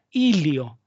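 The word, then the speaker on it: hilio: La zona anatómica del pulmón, por donde ingresan los elementos a un órgano macizo, se llama ilio. Ilio con H, ilio.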